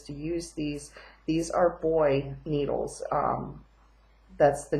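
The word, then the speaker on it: Boye: These are Boy needles. That's the name brand. It's spelled B-O-Y-E.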